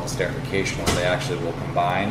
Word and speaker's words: esterification: See, I even said it wrong. I said disterification. It's esterification. Esterification, yeah.